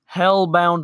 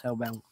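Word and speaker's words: Hellbent: and he'll be sleep hellbound one got it I'll remember that is that was that the power armor no he he said correct pronunciation if my name is hell-bent oh okay see ya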